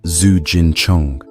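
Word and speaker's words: Zijin Cheng: In Chinese, the Forbidden City is called Zigun Cheng, pronounced Zu Jin Chong.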